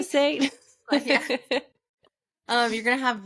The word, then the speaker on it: glyphosate: you're gonna have less gly glyphosate I think that's how you pronounce it correctly glyphosate um you're going to